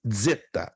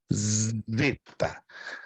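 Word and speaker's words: ζῆτα: uma letra grega então anote Zeta não Zeta se você ouvir alguma gravação na internet com Zeta está mal pronunciado é definitivamente mal pronunciado é z z perfeito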